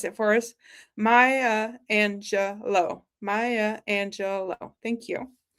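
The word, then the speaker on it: Maya Angelou: has been so kind to like, uh, phonetically pronounce it for us. Maya Angelo. Maya Angelo. Thank you. Maya Angelo.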